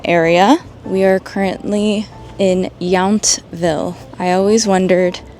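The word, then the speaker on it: Yountville: around the Napa area we are currently in yville I always wondered how to correctly pronounce that now I know yville unfortunately it is around 6:00 p.m.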